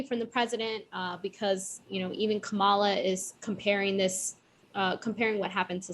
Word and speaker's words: Kamala: I love that you don't say her name properly. Kamala? Kamala. Oh, sorry. That's all right. It's the accent. It's the accent. I put the right emphasis on the right syllable.